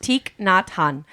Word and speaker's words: Thich Nhat Hanh: it's pronounced Thich Nhat Hanh.